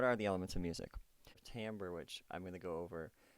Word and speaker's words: timbre: detail talk about is Tambor it looks like this timbre but it's actually pronounced Tambor so Tambor which is